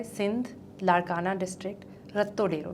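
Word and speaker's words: Ratodero: इट्स रत्तो डेरो. रत्तो डेरो. मैं राटो डेरो pronounce कर रही थी उसको बैठ के, बिकॉज अंग्रेजी में पढ़ा था.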